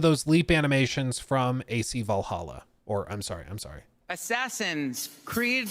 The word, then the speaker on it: Valhalla: Assassin's Creed Valhalla. It is now canonically the right way to pronounce it.